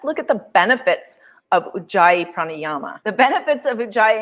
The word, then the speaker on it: Ujjayi: So ocean breath is also known, well, it is Ujjayi pranayama in Sanskrit, and it's pronounced Ujjayi, Ujjayi.